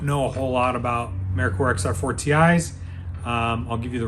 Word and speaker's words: Merkur: called Americorps m-e-r-k-u-r the current product the correct pronunciation is Americorps uh not merker or Mercure um so they built them and